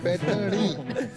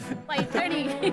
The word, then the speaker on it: पैठणी: असलोनी पैठणी वो जरा प्रोनाउंसिएशन इनका चेक कर दीजिए। पैठणी पैठणी Piyush Piyush it's like from the apical lotus.